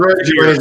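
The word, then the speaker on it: Fiers: Fucking Michael Fears got a good story. Michael Fears, if you guys know him, he's traveled. His name's spelled like Fires or whatever.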